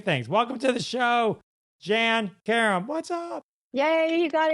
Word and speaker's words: Jann Karam: million things million things welcome to the show Jan Karem what's up yay you got it right you said it right and uh Curb Your Enthusiasm most recently feed them 12.